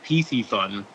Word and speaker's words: Piscifun: But essentially what we do is we kind of merge two words. So we took Pisces, which obviously means fish in Latin, and then we took fun. So we pronounce it Piscifun.